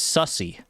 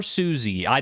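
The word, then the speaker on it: Sussie: The tiger's name is Derpy, and the bird's name is Sussy. Or Susie. It's spelled S-U-S-S-I-E, which to me reads as Sussy. But it could be Susie as well.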